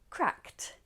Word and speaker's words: cracked: Crack, cracked.